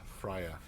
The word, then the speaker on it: Freyja: I use Viking beard oil from Fires of Freyja, Freyja. That's not how you pronounce it, but that's how you spell it. Freya.